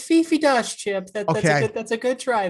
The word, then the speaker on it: Fifi Dosch: It's Fifi Dosch, Chip.